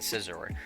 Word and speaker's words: Scizor: But yeah, I found out from a lot of comments yesterday that I was saying Scyther and Scizor, and it's Scyther and Scizor. And the C is silent in both, which makes sense, but